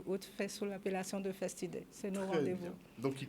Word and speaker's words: Festidei: Donc, comment vous prononcez Festidei? Festidei, oui.